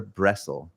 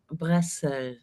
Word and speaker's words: Bressel: How do I pronounce it, Dagmar? Is it Bressel or Bressel? Bressel.